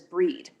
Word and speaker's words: Brigid: um it's also the festival of brigid or i always pronounce it bridget but my book says breed and so she's she's